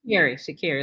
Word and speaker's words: Sha'Carri: Sha'Carri. Let's say her name right. Sha'Carri Richardson.